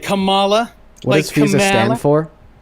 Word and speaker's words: Kamala: I'm just saying you're not going to bring that up ever again about somebody is pronounced Kamala.